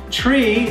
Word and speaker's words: three: number three so therefore the number three is pronounced as tree like the English word for tree same goes for number